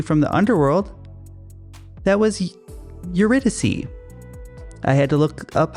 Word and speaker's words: Eurydice: That was Eurydice. I had to look up how to pronounce that one several times, and I think I almost got it that time.